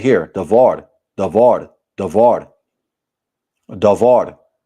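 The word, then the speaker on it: דבר: Davard. Davard. Davard. Strongs. H 1697. Davard. Davard. And don't forget to roll your Rs too. Davar.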